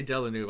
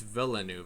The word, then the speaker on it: Villeneuve: I always say Delanove. I'm sorry, it's Villeneuve.